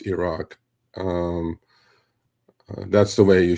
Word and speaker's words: Iraq: Uh, but truthfully, it's Iran, and truthfully, it's Iraq. Um, that's the way you should pronounce it, you know?